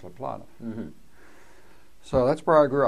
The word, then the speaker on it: La Plata: And right down the road was La Plato, which I guess they had named after a river in South America. I mean, it should have been pronounced "La Plata."